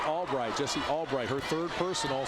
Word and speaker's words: Albrecht: Spelled A-L-B-R-E-C-H-T, pronounced Albright.